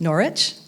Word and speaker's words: Norwich: of Norwich in England it would be pronounced Norwich 14th century English woman